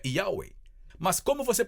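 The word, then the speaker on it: Yahweh: disse meu nome é yahwe mas como você pronuncia bem a antiga sabedoria Judaica diz a maneira como você diz ywe porque não é um nome é um som Então você abre a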